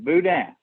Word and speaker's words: boudin: is a destination for Boudin am I pronouncing all of this right Jeff welcome back how are you I'm doing good and yes you are pronouncing it right Boudin and did I get